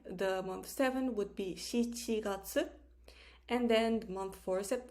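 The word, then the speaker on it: 七月: we have july the month seven would be shichiratsu and then month four sept um sorry the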